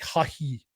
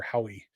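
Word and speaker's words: Haughey: in Ireland it's like hahi um but in in America it's generally just pronounced hoe or Howie um he pitched exactly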